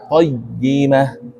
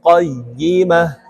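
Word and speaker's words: قيّمة: مطهرة فيها كتب قيمة ini ianya ini tasydid ya, qayyimah.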